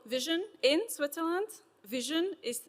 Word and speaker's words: VSHN: Vision is spelled as vshn, but it's intended to be pronounced as what your eyes do.